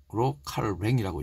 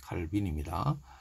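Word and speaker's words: Calvin: 제가 이 책을 통해서 나타난 칼뱅의 종교개혁, 프랑스어로 칼뱅이라고 읽는데, 칼빈입니다.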